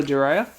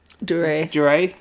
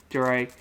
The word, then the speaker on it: Duryea: Is it Taylor Duryea? Duray. I was going to say, I knew I pronounced that wrong. Duray.